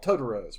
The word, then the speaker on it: Totoro: Satsuki and May discover that the nearby forest is inhabited by magical creatures called Totoros, pronounced Totoro.